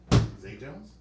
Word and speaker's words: Zay Jones: What is X Jones? Zay Jones? Spelled with a Z.